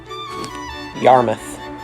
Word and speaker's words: Yarmouth: number four we've got yarmouth now this is a part of a bunch of towns in massachusetts that end in mouth but are actually pronounced muff now number three we